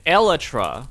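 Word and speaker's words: Elytra: This is an elatra and I can prove it to you.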